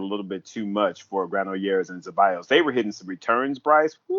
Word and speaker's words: Granollers: They took out Zabalas and Granette. I always say his name wrong. Yeah, Granollers. Granollers.